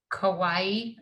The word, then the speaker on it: Kauai: awareness in what's the place in hawaii kauai kawaii okay thanks for the help with the pronunciation so michael's services include massage therapy life